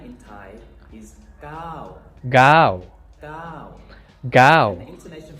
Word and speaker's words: เก้า: カタカナで เก้า ガウ เก้า と書いてありますが、ガオ今回も日本語ガオのうじゃなくてガオタイ語の เก้า という音なので、ガウじゃなくてガウガウ。そしてイントネーションの方はタイ語のゴハ ห้า と同じです。